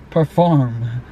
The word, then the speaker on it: Per4M: Perform. Oh my god. But it's spelled weird.